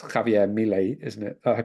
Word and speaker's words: Javier Milei: self-confessed anarcho-capitalist, who during his campaign trail, it's Javier Milei, isn't it? I pronounce it. Is that pronunciation right? Yeah. Javier Milei, who was sort of saying on the campaign